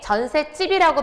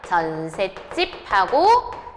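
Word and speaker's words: 전셋집: 그리고 선생님 그러면 발음을 전세집이라고 하면 되나요? 네. 전세집이라고 발음하는게 원칙이고요. 여기 있는 사이옷을 사실은 원래 있던 애가 아니잖아요. 그래서 발음을 안 하는게 원칙이긴 하지만 이것을 뭐로 발음하는 것도 허용하냐면 전세집하고 디귿 받침으로 발음하는 것도 허용합니다. 됐죠?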